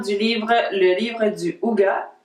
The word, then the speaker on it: Hygge: livre le livre du Houga c'estécrit IG mais ça se prononce houa et il a été